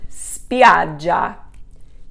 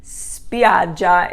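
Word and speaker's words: spiaggia: drop the i and that's because the accent doesn't fall on the final eye spidja the accent is here over the a so spiad j beaches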